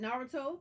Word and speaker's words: Naruto: Elijah, you watching Naruto. Did I say it right? Naruto?